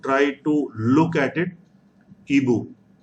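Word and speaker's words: hibou: to look at it eboo h is silent ebook so we like this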